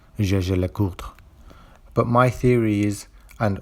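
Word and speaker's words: Jaeger-LeCoultre: Now, some of you may be wondering why I pronounced Jaeger LeCoultre the way I did, as others pronounce it as Jaeger LeCoultre. And there are many discussions on this topic without any definitive answer. The company on its official videos itself actually pronounces it Jaeger LeCoultre.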